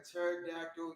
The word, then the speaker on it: pterodactyl: But it was this: why do you never hear a pterodactyl use the restroom? Why? Because the P is silent.